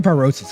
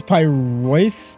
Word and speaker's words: Pyrois: Also, I'm saying Pyrosis. It's what is it? It's Pyrois. Pyrois, is that how you say it?